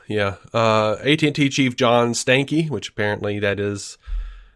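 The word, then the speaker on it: Stankey: it was big yeah uh AT&T Chief John Stanky which Apparently that is how you say that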